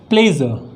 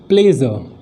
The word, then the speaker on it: pleasure: इसका सही उच्चारण, इसको हम कैसे प्रोनाउंस करेंगे? तो हम कहेंगे प्लेजर। क्या कहेंगे? प्लेजर, ये कहेंगे इसको, क्या कहेंगे?